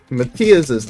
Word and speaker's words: Matthias: I remember back when I pronounced Matthias's name wrong, like a while back. I used to pronounce it wrong all the time, and then he had to explain to me it's pronounced Matthias.